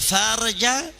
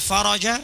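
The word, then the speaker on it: الفرج: Bunyi hadis wa annal faraja ma'al karbi, yang artinya dan kelapangan itu bersama kesulitan. Tapi kalau dia membacanya wa annal farja, bisa ditembak pakai AK-47 sama orang Yaman dia.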